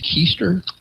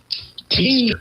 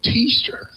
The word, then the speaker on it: Teaster: You say his name is Kester. Teaster. No, Teaster.